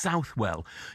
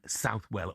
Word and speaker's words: Southwell: Um, Simon says, "Steo is pronounced Southwell." You know what? Um, Simon, I think that depends whether you live in Southwell or around or elsewhere cuz I think the locals call it Southwell, but everywhere else subtle, you know.